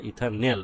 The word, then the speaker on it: ইথানেল: aldehyde ইথাইলডিহাইড ইথাইলহাইড বা ইথানেল অ্যালডিহাইডের শেষে কি উচ্চারণ করা হয় নেল তোমরা ইথাইলডিহাইডও বলতে পারো আর ইথানেলও বলতে পারো কি বলতে পারো ইথান নেল বলতে পারো ঠিক আছে তাহলে ইথানেল